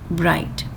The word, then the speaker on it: bright: hi site night bright GH is common I can see GH in high then GH site maybe here night maybe hair bride so GH goes silence bright next lesson number 31